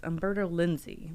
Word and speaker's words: Umberto Lenzi: I cannot pronounce his name. Umberto. Hold on. Lenzi? Yes, Umberto Lenzi was one of the writers, so it is kind of Italian.